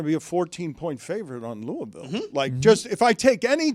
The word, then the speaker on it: Louisville: Louisville. One syllable. Louisville. Maybe 2.